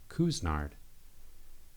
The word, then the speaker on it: Couisnard: So I knew that it is pronounced Couisnard, and I knew that Jair was pronounced Jair, and I knew that Kotsar was pronounced Kotsar.